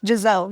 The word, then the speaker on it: Gzelle: No, it's just it's just my name but with a Z cuz my name is originally spelled with the S, but a lot of people don't pronounce the S. It's very it's Jazelle, you know.